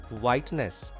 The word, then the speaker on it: whiteness: It is H. H is silent in whiteness. H is not pronounced in this word whiteness.